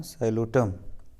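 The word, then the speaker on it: Psilotum: पी इसमें silent रहेगा, साइलोटम। तो इसमें जो आपका राइट आंसर होगा वो होगा आपका मार्सिलिया।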